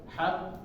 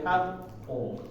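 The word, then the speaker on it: حق: Kalau tasydid tadi dzalikal yaumul haqqo, ditahan sedikit ya, ketika masuknya diperjelas.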